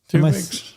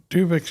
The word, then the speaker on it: Tuvix: Tuvix. Am I saying it wrong? Tuvix, yeah.